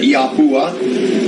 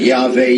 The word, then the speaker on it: Yahweh: Some people pronounce it Yahuah. Some people pronounce it Yahveh Yahweh, YHWH, Tetragrammaton, Yah Hey Wah Hey.